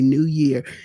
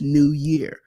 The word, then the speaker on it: New Year: New Year resolutions and I'm saying it correctly New Year because y'all know how we go happy New Year it's not an s on that on that year it's just New Year so how many of